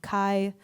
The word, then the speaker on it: Kai: And so Kai felt so fitting because it rhymes with Bai. And also Kai means victory, but not like from conquest.